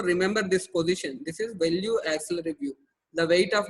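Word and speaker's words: Velpeau: This is pronounced as value, not Wallopu view.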